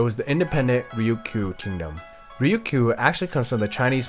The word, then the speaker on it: Ryukyu: Ryukyu actually comes from the Chinese pronunciation of the islands, Ryukyu.